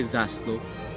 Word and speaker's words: zászló: That's right, you say zászló.